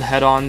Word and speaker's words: Hedon: on hedaan yes it's pronounced head-on is a game that